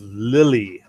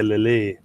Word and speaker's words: Lille: And that was in the northern city of Lille, as I would say it. They probably say Lille in French or something.